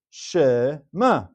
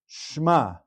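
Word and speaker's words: שְׁמַע: There's two syllables, shema. It would be incorrect to read this as a sheva nach as shma. Shma with a single syllable for the entire word.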